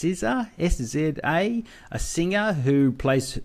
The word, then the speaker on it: SZA: It's a comedy in which she stars with, I guess it's pronounced SZA, S-Z-A, a singer who plays Keke Palmer's best friend in this.